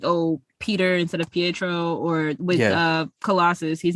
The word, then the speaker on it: Pietro: Maximovs, where they're like, oh, Peter instead of Pietro, or with Colossus, his name is Peter Rasputin.